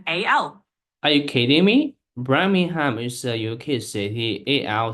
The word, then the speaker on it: Birmingham: I pronounce it right yes that's correct it's pronounced Birmingham birmingh Birmingham okay exactly you've got it birming